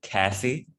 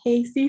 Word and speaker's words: Cassie: All right, can I have the next student I see, Cassie? Can I have you go? Hi, everyone. I'm actually Casey. No worries. It's spelled Cassie, but it's okay.